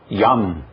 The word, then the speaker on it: Yam: Só que o primeiro pronuncia-se PAM e o segundo pronuncia-se Yam.